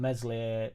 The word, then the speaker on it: Meslier: Jack, what does it need for you to come on board with giving Meslier silent S the elbow, hologram hands?